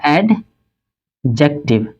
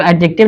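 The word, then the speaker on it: adjective: ये पूरा वर्ड क्या कहलाएगा, ये पूरा वर्ड कहलाएगा आपका एडजेक्टिव। और इसको एडजेक्टिव नहीं बोलते, एडजेक्टिव बोलते हैं, डी साइलेंट होता है, लेकिन बोलचाल की भाषा में हम लोग इस्तेमाल कर रहे हैं।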